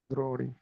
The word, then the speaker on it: द्रोणी: droni Unless say droni right it is dirgha right droni let's say if you want to say um, clothes are in mini basket.